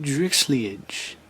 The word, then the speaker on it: Drixliage: of them but anyways meet drix league that's how you pronounce it i know that name